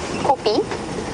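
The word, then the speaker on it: kopje: copies a copy is a little Hill and it's spelled k o p j e copy is j i e is j i e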